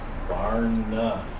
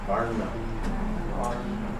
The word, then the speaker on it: Varna: Varna. To make that sound, you point your tongue up to the crown chakra. Varna.